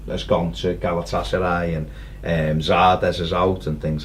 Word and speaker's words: Zardes: gone to Galatasaray, and Zardes is out and things like that, so they needed Zardes. I remember that. Your mate. Interviewed him, said his name wrong. Good start. Called him Vardes.